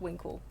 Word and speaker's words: winkle: a horrible pronunciation but you can't say that like properly you've got to say like winkle yeah like the snail the ones you eat